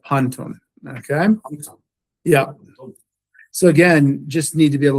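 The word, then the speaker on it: πάντων: But here now you see that the accent has shifted over to the first syllable here, and you have panton.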